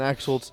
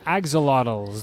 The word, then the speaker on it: axolotls: that second team name the smokin smokin axolotls there's an L after the tea I just calm the